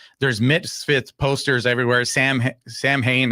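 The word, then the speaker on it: Samhain: Sam Sam Hayne, I guess that's not the proper way to pronounce it, but that's how we pronounce it over here.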